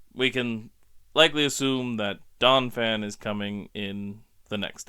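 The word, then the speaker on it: Donphan: admit and apologize that I've been mispronouncing Donan all through these episodes I have so often called him Donna fan I don't know why I've added that extra syllable in the middle there but it's just donfan so if I've have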